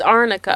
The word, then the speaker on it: arnica: I've heard it's not even called Amica. It's not. It's called It's Arnica. Arnica, Or yeah. Arnic or something Yeah. like that. And so the whole thing, like the whole trial, she was saying it wrong.